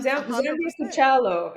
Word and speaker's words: Zambia Kuchalo: Zambia Kuchalo is how you say it. Zambia Kuchalo means to the world.